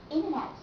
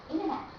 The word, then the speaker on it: internet: with M it means when n and T goes together then you don't have to pronounce the sound to you link these two together and say winner internet International once more International internet and winner but I wonder if